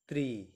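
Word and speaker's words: три: কে বলা হয় দোভা থ্রি কে বলা হয় ত্রি থ্রি কে বলা হয় ত্রি ত্রি ফোর কে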